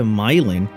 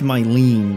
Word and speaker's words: Mylene: In the bar, speak to Mylin. Mylin? Who is sitting nearby the counter. I mean, it's Mylene, but it is spelled like they spell the one in that. Oh, it's her. Milane, I say.